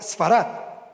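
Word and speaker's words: ספרד: es en España mire la palabra sefarad en hebreo se escribe bueno se pronuncia sfat y hoy en día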